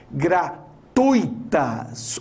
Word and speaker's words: gratuitas: da vontade de morrer são inscrições gratuitas o é mais forte que o i gratuitas portanto nós temos